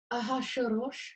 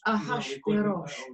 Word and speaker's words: Ahasuerus: How do you pronounce the king? Achashverosh. Ahasuerus? Yes, Ahasuerus.